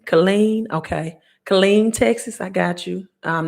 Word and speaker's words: Killeen: silver stacking report okay not far from think pronounced Colleen Colleen okay Killeen Texas I got you I'm not far from